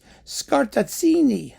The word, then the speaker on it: Scartazzini: And the project is to mix the Mahler symphonies with works inspired thereby by one Andrea Lorenzo, how do you even pronounce this? Scartazzini.